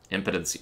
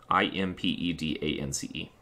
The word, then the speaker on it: impedance: do it as well impotency no it's it's i-m-p-e-d not that one i-m-p-e-d-a-n-c-e that's why i said impedance i think it makes sense to pronounce it like that 0.0694 at least if